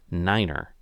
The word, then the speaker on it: niner: unique feature here is the number nine is pronounced Niner so you might ask